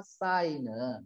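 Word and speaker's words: Singh: 자, 인도에 있는 고라탈라이라는 마을에 도착하자마자 레잔드라 싱은 싱 여기 싱이라고 읽으세요.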